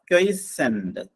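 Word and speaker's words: quiescent: അത് മാറ്റിയിട്ടുണ്ട് ആ ക്വസ്റ്റ്യൻ ഇതാണ് ഒന്ന് opposite of ക്വൈസെന്റ് ക്യു യു ഐ ഇ എസ് സി ഇ എൻ T spelling ശ്രദ്ധിക്കുക ഉച്ചാരണം നോക്കുക ക്വൈസെന്റ് ക്യു യു ഐ ഇ എസ്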